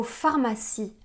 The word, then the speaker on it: pharmacie: Pourquoi on écrit le mot pharmacie avec un P et un H qu'on prononce /f/, alors qu'on écrit le mot huit avec un H qu'on ne prononce pas ?